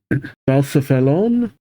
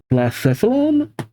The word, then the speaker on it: Blacephalon: Balcephalon, I think is how you pronounce it.